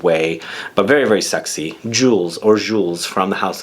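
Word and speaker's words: Jules: but very very sexy jewels or jewels from the House of Dior I should say jewel I think the S is silent at the end this next one is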